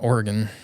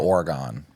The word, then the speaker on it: Oregon: It's gin. So like Gin. Gin. Oregon. As in like begin. Oregon. What were you saying, though? I think I said Oregon the first time. Oh, Oregon.